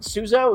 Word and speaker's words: Suzo: races so look am i pronouncing your last name right suzo is that correct yep that's right that's right okay good